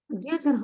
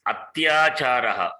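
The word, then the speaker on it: अत्याचारः: Adhyacharaha only is here. Huh? Adhyacharaha only here. Is it adhyacharaha? Please read properly. It is atyacharaha, not adhyacharaha. Okay.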